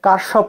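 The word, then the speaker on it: Kirchhoff: এটা আমি বলি যে কারশপ, যেরকম কারশপ নামটা, এটা কিন্তু বিভিন্ন মানে ইউরোপিয়ান কান্ট্রি এবং আমেরিকাতে ডিফারেন্ট উচ্চারণ হয় আর কি, কয়েক জায়গায় কিরশপ উচ্চারণ করে, কয়েক জায়গায় কারশপ উচ্চারণ করে, দুইটাই কারেক্ট, এক এক জায়গায় এক এক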